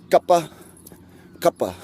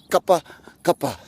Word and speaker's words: kapakapa: final all right so repeat after me Co cuppa cuppa right just remember to-- supper supper all right again Co cuppa cuppa go got buck upper go cut back upper